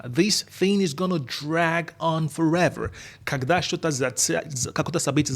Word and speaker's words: drag on: This thing is going to drag on forever. Когда что-то какое-то событие затягивается, like собрание, встречи, would say it's dragging on. И важно произношение, мы слитно произносим dragon, как драгон.